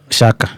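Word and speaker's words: Xhaka: I don't know I don't know who I don't know how to pronounce that name but Shaka Shaka.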